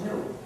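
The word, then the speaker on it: gnu: countless word plays because according to the dictionary the g is silent and it's pronounced new so anytime you want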